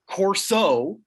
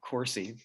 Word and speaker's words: Corso: yeah night and day corso not coursey